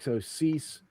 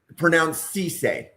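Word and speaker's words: Cissé: So Cease. Pronounce Cisse. Cisse. Sorry, Cisse. That's okay. That's not obvious from looking at that spelling.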